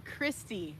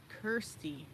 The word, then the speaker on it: Kirsty: No, but so is it Scottish, or are we pronouncing it Kirsty or Christy? See, I think I would pronounce it Kirsty.